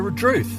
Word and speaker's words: Redruth: many people might say Red Ruth. Ah, Druth. When you hear local people say it, the first part, the RE, almost disappears.